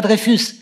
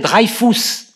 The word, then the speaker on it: Dreyfus: moment de la faire on ne l'appelle pas dreyfus on l'appelle drive tous en germanie zh le nom de la même